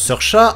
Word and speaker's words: Saoirse: Niveau naissances, c’est en 1994 que sont nés Saoirse Ronan, parce que oui, ça se prononce "seurcha", Ansel Elgort, Dakota Fanning,